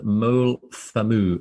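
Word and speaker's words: Moel Famau: apologize in advanc pronunciation mole FAMU which is m o e l f m auu it's a Heather infused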